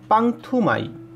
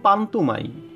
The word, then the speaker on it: পান্তুমাই: পান্তুমাই গ্রামের স্থানীয় নাম পাংথুমাই, কিন্তু সঠিক উচ্চারণ পান্তুমাই।